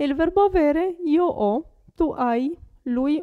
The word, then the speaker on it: ho: Io ho. Vedete che la H non si pronuncia.